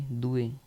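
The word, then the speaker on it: due: एन उन्नो ठीक है दो को हम कहेंगे दुए डी यूई दुए दुए का मतलब होता है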